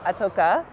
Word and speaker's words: Itoka: Itoka. Many ways to pronounce my last name, but that's the one I'm going with today.